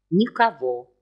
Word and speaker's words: Никого: Никого. Без ударения.